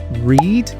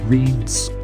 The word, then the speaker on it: read: They have the same spelling, but they are pron pronounced differently. So read is the present form right or the infinitive form. So I read books, you read books, he reads books, etc. But read is the past form, right?